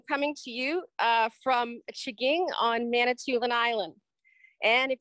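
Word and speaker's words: M'Chigeeng: to you uh from chiging on manitoulin island and if you are looking for jaking on a map of manitoulin island the m is silent it's m apostrophe c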